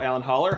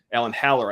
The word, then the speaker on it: Alan Haller: so there you go Alan holler I know he does not miss an episode ever Alan Haller I should say I should pronounce his name correctly if he's listening Alan